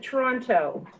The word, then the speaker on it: Toronto: am just outside of Toronto Canada you actually pronounced the t i i i Mo Hagen has told me it's Toronto toron okay what what's your